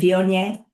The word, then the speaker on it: Viognier: throw a little snotty French accent in the end of it, and you're good.